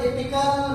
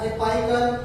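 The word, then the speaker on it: apical: कौन कौन से पार्ट्स में डिवाइड होगा, तो अपन बोलो एपिकल मेरिस्टेम या एपाइकल, आप कैसे भी प्रोनाउंस कर सकते हैं, एपिकल या एपाइकल मेरिस्टेम।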